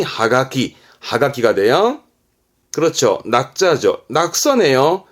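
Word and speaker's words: 葉書: 엽서 하지만 일본의 경우 는 이파리에 적었다 해서 발음이 하가키 하키가 돼요 그렇죠 자죠 낙서에요 라그가 라기 이거는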